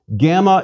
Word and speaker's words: gamma: a bit more familiar gamma is always pronounced hard G as in girl never J as in gymnasium please repeat gamma G